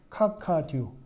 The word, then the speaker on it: 카카듀: 영화 밀정에 나오는 장면이에요 듀 카카라 읽으면 안 돼요 자 한번 모두 읽어봅니다 카카듀 어 발음을 안하신 분인